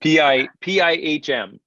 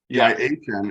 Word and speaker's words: PIHM: It's PIHM instead of PIYM. The H silent. PIHM. PIHM.